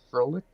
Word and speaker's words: Frolick: pronounce your last name it is pronounced frolic all right then neil